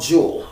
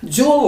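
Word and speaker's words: Juul: around that so we have a company called jewel which is spelled j-u-u-l jewel labs um i guess they they they developed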